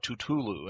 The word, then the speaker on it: Tutulu: at this was Tutulu, literally pronounced just like that, Tutulu.